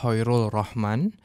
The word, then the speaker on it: Khoirul Rohman: Perkenalkan, seperti yang diperkenalkan tadi, nama saya Hoirul Rohman.